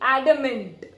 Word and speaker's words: adamant: adamant ad ma NT adamant adamant okay T I'm not pronouncing loudly adamant T you can hear it okay now adamant means